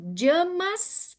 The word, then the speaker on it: yamas: Então, os princípios éticos a gente chama, na verdade de jamas. Aqui se pronuncia, que nem a pronúncia correta de yoga, na verdade é yoga. O y no início da palavra em sânscrito é j, né?